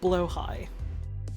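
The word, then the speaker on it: Blåhaj: It's also meant to be pronounced like blowhigh.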